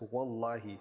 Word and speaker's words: wallahi: It's V, because we don't have a W, but it's an Arabic phrase, say wallahi, but it's wallahi, that's the pronunciation in Arabic, and it means I swear by Allah.